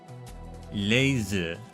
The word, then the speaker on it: Leizi: Laser, that's how you say her name.